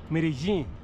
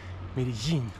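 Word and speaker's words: Medellín: To Medellin, which I believe is actually pronounced Medellin, with the double L acting as a consonant that's between the J and the Z. Medellin, Jin, something like that.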